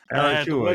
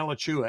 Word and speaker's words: Alachua: A name that most people cannot pronounce when they look at it and go, Alachua. Alachua, yeah. Yeah, Alachua.